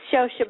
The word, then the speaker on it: Scioscia: It's Scioscia, but it's a difficult name to pronounce.